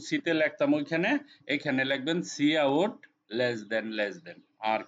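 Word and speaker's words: cout: হয় এসই ও ইউটি এটাকে বলবেন সি আউট সিটাকে উচ্চারণ করবেন আউট মানে প্রিন্ট প্রিন্ট বলছিলাম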